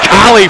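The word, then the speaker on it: Kale: fajuka they give to kali for the easy two double penetration makes that happen spelled k-a-l-e pronounced kali jonathan collie the sophomore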